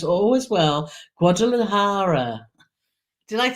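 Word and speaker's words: Guadalajara: and Cheryl's from my favorite place that I pronounce always well guadara did I say it right that time guadara yeah guadalahara that was a good effort it was a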